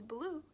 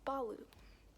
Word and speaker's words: Baloo: So, in the movie and the way that they pronounce it in America is Baloo, but it's actually pronounced Balu.